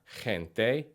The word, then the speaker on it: gente: Some examples of a soft G are gente, alergia, and gimnasio.